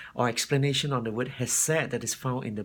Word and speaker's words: Chesed: video but coming back to the subject of has said the would have said is that you're made